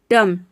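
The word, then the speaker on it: dumb: डम, डम में मतलब होता है गूंगा।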